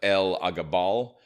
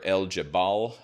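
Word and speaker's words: Elagabal: So, so Julia Dona is the daughter of the high priest of uh El Aabal uh or El Jabal uh depending on which pronunciation you're going to use.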